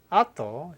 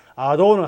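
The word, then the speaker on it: あと: 아토, 영어로 순수 발음은 아도는 한국식 발음이고요.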